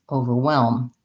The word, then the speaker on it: overwhelm: with the ow sound we need to make sure we're close to the v over over tight er and then i want my w well my red tent vowel well well and then my lm together overwhelm and also short short